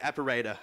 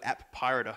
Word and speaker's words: Appirater: But the golden standard for a long time has been this thing called Apparator. Does everyone know about it? Or one of my friends calls it App Pirater, because that's how it's spelled.